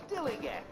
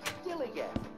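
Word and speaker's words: DILLIGAF: And I can relate to their attitude too, in a word, dillygaff. That's spelled D-I-L-L-I-G-A-F, dillygaff.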